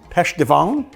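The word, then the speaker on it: pêche de vigne: Pêche de vin. How do you say that in French? V-I-G-N-E. Pêche de vin. Pêche de vin. Peach from the vine.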